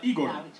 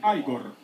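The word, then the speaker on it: Игорь: А вы, наверное, Игор. Произносится как Айгор.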